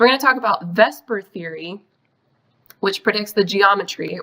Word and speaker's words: VSEPR: too much work so we tend to say it like it's a word we pronounce it in Vesper which I realize it's